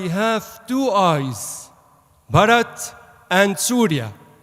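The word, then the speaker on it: سوريا: you hear in English is pronounced differently in our native Arabic language it's actually Surya means the sun god all Arabic countries pronounce it as Surya so I'm happy to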